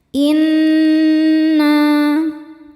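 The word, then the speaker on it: إنا: Inna nun tasydidnya dihukumi dunah musyaddadah. Karena nun bertasydid. Cara bacanya berdengung. Tahan dengungannya kurang lebih dua harakat.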